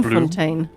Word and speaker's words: Bloemfontein: The Bloem is pronounced Bloom. Bloemfontein.